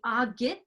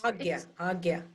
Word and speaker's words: Ajna: It's the Agya chakra. It's Agya. Agya. It's spelled AJNA. Yeah, but it's pronounced Agya.